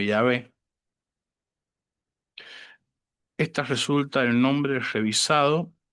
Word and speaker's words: Yahvé: La fórmula oficial desfigurada Jeobí o Jehová escrita de forma abreviada GH pronunciándose como Yahvé.